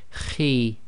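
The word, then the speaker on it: خِ: got a note here, heavy letter but not completely full mouth, so the pronunciation of this is Khi, Khi. So it's not a complete smile, and at the same time it's not a full mouth, i.e. not a complete round mouth, so it's Khi.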